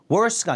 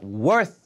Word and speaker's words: worth: worth가 아니라 worth 해서 th 발음 물어주는 거 잊지 마시고 이런 th 발음 발음하는 법 정확하게 저희 오픽 발음 강세편 강의가 따로 있어요.